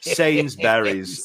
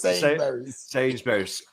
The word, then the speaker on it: Sainsbury's: the other one yes the way that you Americans say things does make me laughing sains berries Sainsbury's it was a sidewalk